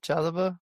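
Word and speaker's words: Chalobah: So um is it uh Chaloba, right? That's how I'd pronounce it. Yep. Chaloba.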